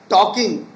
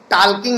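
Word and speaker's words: talking: टॉकिंग, टाल्किंग नहीं होता है।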